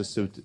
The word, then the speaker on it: SCET: général de la SCET, je ne sais pas si ça se prononce SCET, la SET, pardon, donc qui est une filiale conseil au territoire de la Banque des Territoires.